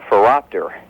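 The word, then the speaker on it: phoropter: the eye doctor's office is called a fapor a what foror that would hurt a fapor that sounds like some kind of a dinosaur a fapor it's h it's spelled p h o r o p t e r Oh I thought you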